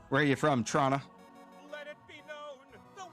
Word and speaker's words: Toronto: near Toronto, you know you don't pronounce the second T. But a lot of people in media will be like Toronto. If you're really from the area, you'll hear Trana.